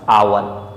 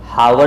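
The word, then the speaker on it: hour: Next word दिया हुआ है हमारे पास आवर, इसे हम हावर नहीं आवर पढ़ते हैं और इसका प्रोनाउंसिएशन अर के सेंस पर भी होता है, जिसे हम बोले अर। तो यहाँ पर ओ से पहले एच दिखाई दे रहा है, इस कारण से हम इसे हावर नहीं आवर पढ़ेंगे या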